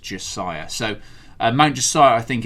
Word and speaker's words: Mount Josiah: should I checked with Rockstar and it's actually pronounced Josiah.